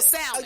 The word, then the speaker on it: salmon: Salmon. Oh, you said salmon. Okay. I was about to say I would say it wrong. I say with the L.